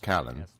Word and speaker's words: Callan: Well, first of all, it's pronounced Callan, but it's fine. Every single foreigner butchers it, and it is normal.